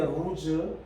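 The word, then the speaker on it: Luz: 본래 이제 루스는 히브리 원발음이 루즈인데 루즈.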